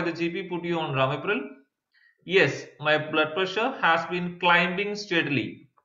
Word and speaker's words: Ramipril: They are called Ramipril. Is that how you say it? Pharmacist, that's right. Do you know why the GP put you on Ramipril?